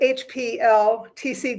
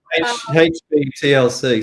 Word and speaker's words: HPTLC: So it sounds like, though, liquids could be tested with HPLTC. Did I say it right this time? HPTLC.